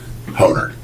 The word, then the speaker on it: Horner: Honer. Sorry. Okay. The second H is silent. Okay. But it's pronounced just like boner.